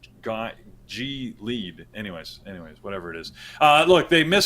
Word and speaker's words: Gilead: Gilead. I think Gilead. Yeah. Gilead. That feels right, but English is a weird language because technically it's G lead.